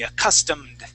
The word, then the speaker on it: accustomed: a custom all right this is going to end with that D accustomed custom okay let's uh let's